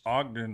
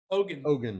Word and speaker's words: Ogun: I want to ask Ogden or what's how you say his name? Ogun.